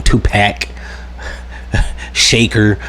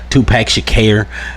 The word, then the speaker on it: Tupac Shakur: All in the 90s, I used to remember news segments where they used to call him Tupac Shaker, Tupac Shakur. It's just so 30 years it only took for people to correctly say his name.